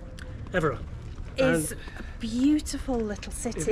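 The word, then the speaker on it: Évora: Evora? Evora.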